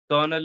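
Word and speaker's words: colonel: while if R is there so we slightly pronounce it besides besides this there are some French words that English has adopted like kernel is there it's spell is entirely opposite and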